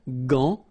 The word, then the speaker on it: gant: Remember, G-A goes like ga, okay? G-g-g. But in that case, you've got this A-N, so it's nasal, gant, and then final T is not pronounced here.